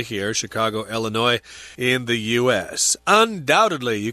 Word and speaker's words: Illinois: So that's the state where it is, Illinois. The S is not pronounced there because it's a French word.